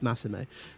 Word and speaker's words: Massimo: just from aladdin now every time i say his name i think it's just sago but it's not it's massimo so um so massimo